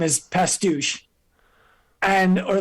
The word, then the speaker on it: Pastuch: aast I said no it's actually pronounced pastou and she goes no